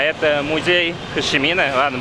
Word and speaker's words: Хошимин: А это музей Хошимина. Ладно, буду называть его Хошимином, так как он на русский переводится как Хошимин, на английском Хочимин, и на вьетнамском также пишется.